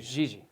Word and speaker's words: Gigi: he still slips once in a while, and we're like, Eric, it's Gigi. It's the G. Yeah, our dialect coach has been. Oh, you do have one. Oh yeah, Gigi. absolutely. Gigi, absolutely.